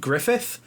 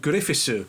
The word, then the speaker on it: Griffith: griffison that's funny because character names is guts and griffith yeah but the Japanese pronounces gatsu and gurifisu and so early fan